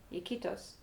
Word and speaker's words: Iquitos: Iquitos.